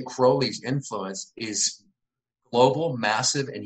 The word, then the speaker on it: Crowley: probably it's Crowley right Crowley rhymes with holy he rhymed it with holy in this poem called the beetle so oh very clever